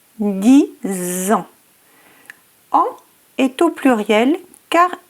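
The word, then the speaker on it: dix ans: Le X final de 10 se prononce Z en raison de la liaison avec le mot qui suit. 10 ans.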